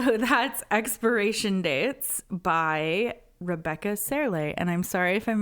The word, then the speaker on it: Serle: Serle. Rebecca Serle. Yep. That is a normal name to say. That is how you pronounce that.